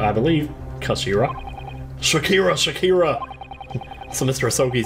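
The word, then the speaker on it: 頭: about this with you it's written as head in Japanese but it's pronounced as Kashira I believe Kashira Shakira Shakira so Mr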